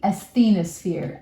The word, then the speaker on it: asthenosphere: And this we call the asthenosphere, as the no sphere.